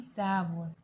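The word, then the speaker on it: 사월: उसी तरह अप्रैल चौथा मंथ है, इसलिए हम 4 एंड वॉल लिखने में ऐसे लिखते हैं, बट उसे बोलना है सा वॉल।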